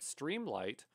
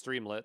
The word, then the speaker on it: Streamlit: want to take a look at Streamlight or streamlit it depends on how you pronounce it I guess it's streamlit that's the correct way of saying it very similar to gradio